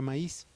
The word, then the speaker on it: maíz: explicación, es la palabra maíz. En la palabra maíz nosotros vamos a tener que la I hace su propia sílaba y se separa de la A.